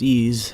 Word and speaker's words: EES: EES, which is pronounced ease, is an acronym for Engineering Equation Solver. The previous video in this section described how we can use ease to create and run a parametric table.